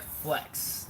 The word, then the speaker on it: FLX: flx stand for um it's kind of kind of like you pronounce it like flex like you're flexing on someone flexing your muscles showing